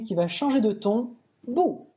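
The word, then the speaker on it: 不: Autre caractère archi connu qui va changer de ton, bu, bu, quatrième ton, qui deviendra bu, deuxième ton, devant un autre quatrième ton.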